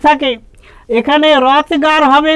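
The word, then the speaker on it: Hrothgar: বানানটা মনে রেখো এইচটা সাইলেন্ট আছে। ইংরেজি ভাষাটা এমনি অনেক লেটার ওয়ার্ডের মধ্যে প্রেজেন্ট থাকে কিন্তু সাইলেন্ট থাকে। এখানে রথগার হবে, উচ্চারণটা রথগারের মতো হবে না।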